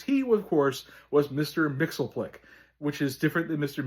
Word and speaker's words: Mxyzptlk: So in 1987 when John Burn had taken over the Superman line of books he had Mixer Mix Pitilik reintroduced. And in the issue number 11 of volume two of Superman, the character does spell his name out phonetically. It tells you it's Mr. Mix Pitilik and that is the